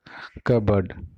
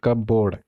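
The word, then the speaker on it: cupboard: और पीसीज कट बोर्ड कबर्ड ठीक है नोट कब बोर्ड यह जो आ रहा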